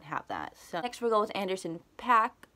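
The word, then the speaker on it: Paak: that extra gold Anderson PAC I always say POC I think it's pronounced packs though he released Oxnard this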